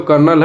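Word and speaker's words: colonel: इसे पढ़ते तो कर्नल है लेकिन इसको लिखते कोनोलेन है। स्पेलिंग में आर होता ही नहीं है।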